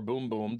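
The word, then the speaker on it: bumbum: a for of M bum bum or boom boom depending on how you pronounce it because boom boom it's sold to Janeiro's product is boom boom but it's spelled bum bum so you know it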